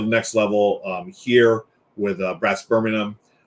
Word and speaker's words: Birmingham: I know Americans, we tend to say Birmingham, like Birmingham, Alabama, but I know I've heard it pronounced that way before, and I would like to pronounce it the correct way. So Birmingham, Brass Birmingham.